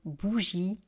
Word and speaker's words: bougie: Donc vous voyez, au singulier, je ne prononce pas le e final, je dis une bougie.